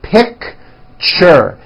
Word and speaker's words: picture: That's a tricky one. It's 2 syllables. You pronounce it picture, picture.